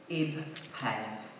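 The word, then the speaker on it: IPBES: when Manchester holds a landmark United Nations Conference, IB PEZ. I finally learned to pronounce it correctly.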